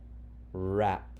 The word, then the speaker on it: wrap: We're focusing on KN says GN says WR says r. Notice the first letters in each spelling pattern is silent. So let's begin. I'll sound it out and blend, then you practice. R, a, p, wrap.